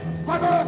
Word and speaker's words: voleurs: Voleurs de sphère! Voleurs! Voleur, Diebe, Voleur. Haben Sie gemerkt, das S am Ende von Voleur wird nicht ausgesprochen.